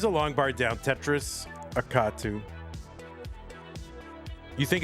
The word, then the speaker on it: Akatu: Tetris Akatu. You think it's pronounced like a sneeze like?